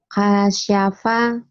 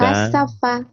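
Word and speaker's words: كَشَفَ: Kasyafa. Bukan. Kasafa. Bukan. Kasafa. Kasyafa. Iya, kasyafa.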